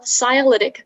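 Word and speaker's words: scialytic: shadows audience could clearly see david copperfield's magical cyalytic platinum wristband with his name on it during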